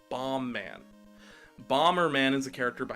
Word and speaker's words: Bomb Man: audience members thinks it's Bomberman or bambo man but either way it's not it's bomb man Bomberman is a character